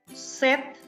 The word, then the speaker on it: sept: six, six, six, six, set, p is silent, set, with is like WITH, with, neuf, this, like THIS, this.